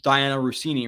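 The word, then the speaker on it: Dianna Russini: But what we heard from Diana Rossini, right?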